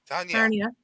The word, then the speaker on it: Tarnia: Hold on, is there an R there? No, there's no R, but that's how they pronounce it on Homicide's chat.